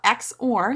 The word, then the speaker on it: XOR: Well, the exclusive OR gate, so XOR is how I'll pronounce it.